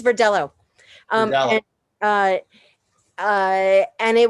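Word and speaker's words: Verdelho: tell me about the verdejo first well it's it's actually pronounced for dello it's not a spanish name so you're going to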